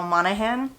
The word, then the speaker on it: Monaghan: Then next up, I read Same Time Next Summer by Annabel Monaghan.